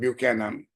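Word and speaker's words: Buchanan: conclude that Nobel Prize biner Economist James M bu Canan bu Canan correct pronunciation bu Canon say that classical economics Paradigm that is built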